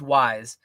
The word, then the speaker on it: Wise: It's not like we s like the card game. It's not Weiss. It's wise. He he said that you emphasize the Z like zebra. Like maybe you're taking it too much. Maybe you're going a little bit. But it's definitely a Z sound like zebra and not an S sound like snake. Um yeah, I say